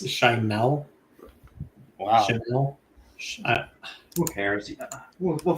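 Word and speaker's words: Schimel: He says it's Shimel. Wow. Shimel. Who cares? We'll find out. We'll find out how it's pronounced if he wins.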